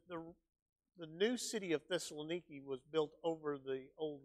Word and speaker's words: Thessaloniki: yeah right all right so Thessaloniki is is the is the way the Greeks pronounce it now and our friend Dave